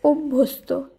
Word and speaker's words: অভ্যস্ত: অভ্যস্ত নয়, এর শুদ্ধ উচ্চারণ হবে অভ্যস্ত, এখানেও ও হিসাবে উচ্চারিত হবে।